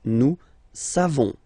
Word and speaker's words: savons: You don't pronounce the final S. Nous savons.